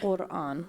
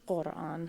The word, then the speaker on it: Quran: We say Quran with a GH sound, Quran. But you Quran, can say yeah. But if you can't say it, it's okay. If you say Quran, we're gonna understand what you mean.